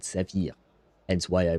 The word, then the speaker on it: saphir: In French, we have the similar word, exactly the same word, except we pronounce it saphir.